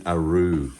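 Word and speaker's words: roux: when he cooks and stuff so you're making ARO ARO it's spelled r o u x French word basically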